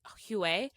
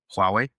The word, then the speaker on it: Huawei: Um, who I think the the Chinese company I think it's called Huer. Hu I don't know if that's how you say it. Hu did it first. Huh? H what' you say? Huawei.